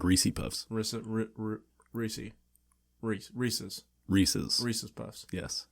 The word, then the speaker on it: Reese's: It's Reese's Cups. And it's also the pieces that belong to Reese. Reese's Pieces. Because Reese's rhymes with pieces.